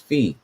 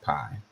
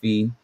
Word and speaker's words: Phi: started from the beginning, the pronunciation is supposed to be F-E-E, which I would think that says phi. Could be Fe, but I definitely don't think that sounds like pi, which is the ratio